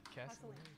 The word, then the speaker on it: Casalane: Casalane.